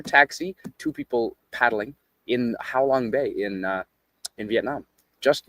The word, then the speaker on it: Halong Bay: That is in How Long Bay. Uh not how long like spelled like I'm saying. It's Halong Bay. H A Halong Bay, which is uh east of uh Hanoi, the capital of Vietnam.